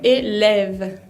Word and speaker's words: élève: La E con acento grave es una E abierta también, pero que se pronuncia distinta del acento agudo, porque se pronuncia como colocando la boca para decir una A, abriendo la boca, pero diciendo E, y se pronuncia E. Por ejemplo, élève.